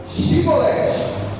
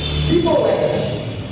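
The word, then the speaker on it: Shibboleth: Então ele dizia: dize, pois, Shibolete. Porém ele dizia Sibolete, porque não o podia pronunciar assim bem.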